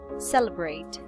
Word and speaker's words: celebrate: is celebrate celebrate celebrate celebrate so the schwa sound is here on the second part celebrate celebrate celebrate celebrate